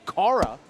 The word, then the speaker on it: Kara: Draven, that Kara's name is actually pronounced Kara.